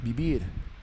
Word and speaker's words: vivir: aussi avec un V parce qu'en espagnol, le le V et le B, ça se prononce euh c'est c'est pour très proche, très très proche. Vivir vivir vivir, par exemple, pour vivre.